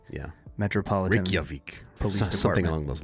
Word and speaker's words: Reykjavik: I actually know how to pronounce this name from Eurovision. Okay, yeah, give it to me. Reykjavik. Yeah. Reykjavik, And spelled R-E-Y. I'm sure it's still not perfect, but that's... Yeah, R-E-Y-K-J-A-V-I-K, Reykjavik.